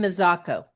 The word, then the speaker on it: Mazzocco: We don't have ours on the calendars yet for Jen, I can't pronounce her last name, Mazza, Ann, help me out. Wait, You, Jen Mazzocco.